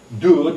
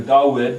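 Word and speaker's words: דוד: That's Dud, or Dawid, because this is pronounced, the Vav is pronounced as an O, a U, a V, or a W.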